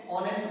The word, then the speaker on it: honest: इसका साउंड होता है, एच इसमें साइलेंट है, जैसे इसमें आवर में एच साइलेंट है, ऐसे ऑनेस्ट में, तो यहाँ पर एन